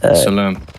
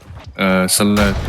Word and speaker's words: Salat: Salam. Salat. But I think I mispronounced it the first time.